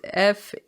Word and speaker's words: Fialho: a comment that says andre filario is pronounced f-e-e-a-l-yo so if you got